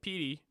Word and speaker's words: Pity: And I think this guy's name is spelled like Pity, P-I-T-Y. It's pronounced like Petey from Remember the Titans.